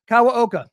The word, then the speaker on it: Kawaoka: Welcome to the show, author of The Wealth Elevator, Kawaoka.